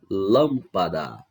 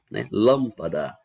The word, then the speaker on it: lâmpada: dela é o lan lâmpada a sílaba é pronunciada com mais força é a antepenúltima Então essa palavra ela